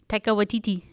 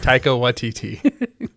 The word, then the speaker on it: Taika Waititi: Taika Waititi. Yes. Taika Waititi. Or YTT. Like Waikiki, only with T's.